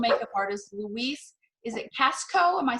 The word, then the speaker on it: Casco: Is it Casco?